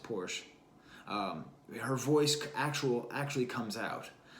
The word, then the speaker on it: Portia: A track like Portia, which I think she pronounced Porsche, her voice actually comes out.